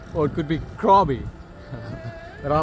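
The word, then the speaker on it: Krabi: It's actually Bugette, it's Krabby. Just plain straight Krabby. Or it could be Krabby, but I like Krabby.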